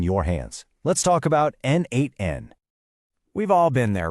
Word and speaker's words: n8n: And that brings us right to NN, which is pronounced N8N.